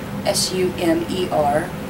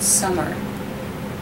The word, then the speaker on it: Sumer: how Sumer Sumer not summer and that was kind of cute as soon as I turned off the camera he's like Mom it's a Sumer not to Summer sorry so he's very